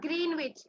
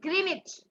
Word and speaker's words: Greenwich: Greenwich at 82°30 of चाहत, it is not Greenwich, it is Greenwich. W is silent.